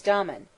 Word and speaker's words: Damon: His teacher in music, most writers state, was Damon, whose name they say should be pronounced with the first syllable short, but Aristotle said he had a thorough musical training at the hands of Pythides.